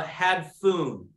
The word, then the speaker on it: hadphoon: It's called a hadphoon, and it's spelled H-A-D-P-H-O-O-N.